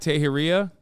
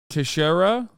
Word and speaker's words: Teixeira: Is it Jack Teheria? Junior member of the U.S. Wait, hold on. He'll say it right in a second. Teixeira?